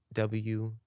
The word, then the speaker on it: Wuhryn: And you can find me on social media at Wuhryn, Wuhryn. My full artist name is Wuhryn. The S is silent.